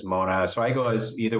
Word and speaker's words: Monast: It was originally Mona, then they added an ST, but they still pronounce it as Mona. So I go as either way, Monast or Mona.